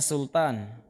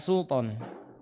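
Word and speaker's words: سلطان: Liqo atau kepemilikan Hai kalau kita Indonesia bacanya sultan yang benar adalah Sulton supon tag model kholbi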